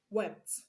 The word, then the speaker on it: wept: Now let's see another question on pronouncing past tense marker as t. In the same 2018, we have question 26. The given word is wept. Wept. The underlined letter is t in wept.